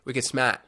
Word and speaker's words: Wicked Smart: had this competition called wicked smart we get smart you don't pronounce the r We Get Smart and everybody submits not